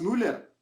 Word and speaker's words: Müller: ayer la lista si es nula no thomas müller no es nula porque le dices span style